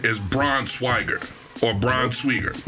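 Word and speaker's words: Braunschweiger: the actual pronunciation is Braun swager or brown swier like the German way but the wife and her family for years they called it brown swagger so I'm like how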